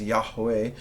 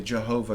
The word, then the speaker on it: Yahweh: when the Bush was on fire and God pronounced his name as Yahweh I maybe some people might say Jehovah God all right we're we're not um we're